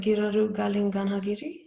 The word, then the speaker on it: Giraru Galing Ganhagirri: is called um you have to correct my pronunciation if i'm wrong here but giroru galin ganhagiri is that that was really good yeah yep